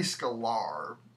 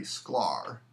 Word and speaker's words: Sklar: yesterday yesterday um Marty alar passed away actually I think I'm pronouncing his name wrong Marty Sklar there's no extra in there he was responsible for